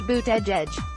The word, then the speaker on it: Buttigieg: Surname is pronounced Buttigieg.